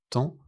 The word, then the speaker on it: temps: Temps, beaucoup, doigt. Regardez toutes ces lettres, mais écoutez la prononciation. Temps, beaucoup, doigt. Vous voyez, beaucoup de lettres sont juste des traces du passé.